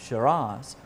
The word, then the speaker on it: Shiraz: come so while I enjoy this class of Shiraz or sera depending on how you like to pronounce it I hope you'll join me again